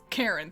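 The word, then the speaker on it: Charon: how is it pronounced is it sharon sharon karen he's named after pluto kind of karen thank you okay yeah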